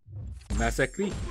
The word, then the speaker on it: Massacre: You know his name doesn't have two S's. Massacre has two S's in it. And one guy, I actually linked the pronunciation for him so he could hear it right online. Massacre is how you say his name.